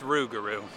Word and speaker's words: Rougarou: Tess is filming regardless, but I don't know how to pronounce that coaster. It's Rougarou.